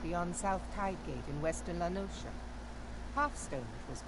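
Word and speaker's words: La Noscea: Oh, so it is pronounced Lanosha. I've been saying Lanosa. Lanosa? Lanosia? But yeah, I've been saying Lanosia, but it's Lanosha. Because Nosha is just ocean scrambled with an S in it.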